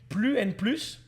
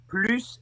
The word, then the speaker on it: plus: The difference between more is you pronounce the S at the end, but I know that sometimes you don't, and I can't think of when, but I know that sometimes.